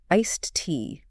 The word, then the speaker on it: iced tea: The most important thing is to make sure that you're pronouncing the T at the Okay. end of iced.